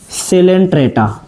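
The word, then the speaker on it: Coelenterata: का नाम है आपका सिलेंट्र यही बेसिक प बेटा हर बच्चा मात खा जाता है जिसको कभी-कभी नाइजेरिया भी बोलते हैं इसमें सी साइलेंट होता है तो इसको बहुत ही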